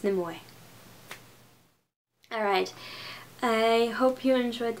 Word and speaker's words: Nimue: I pronounce it Nimue. that's actually supposed to be 3 syllables, even though it sounds like I'm saying 2, so it'd be like Nimue, but yeah.